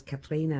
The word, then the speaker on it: Catriona: Our second daughter is Katrina, and it's spelled Catriona.